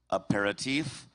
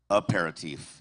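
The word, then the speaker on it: aperitif: Your word has two correct pronunciations. A paratif. A paratif.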